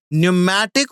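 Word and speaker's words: pneumatic: lighten their body so न्यूमेटिक bond see the spelling it is from P P silent okay न्यूमेटिक और होलो bonus the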